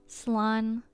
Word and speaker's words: slán: A shortened version of slán abhail, or safe journey home. One dialect would pronounce it slán.